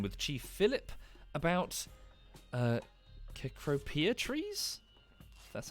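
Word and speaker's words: Cecropia: having a conversation with chief philip about uh kekropia trees that's how you pronounce them what's that what type of tree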